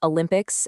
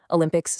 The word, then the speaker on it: Olympics: Olympics starts with a hard O rather than a soft schwa. This specific error completely throws off the rhythmic anticipation of the primary stress sounds later on.